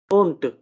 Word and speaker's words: und: डा ही प्रोनाउंस करेंगे, लेकिन अगर किसी वर्ड के एंड में है तब हम उसको डी को डिवाइस करके टी की तरह प्रोनाउंस करेंगे, ठीक है, गेल्ट, ओंट, ठीक है।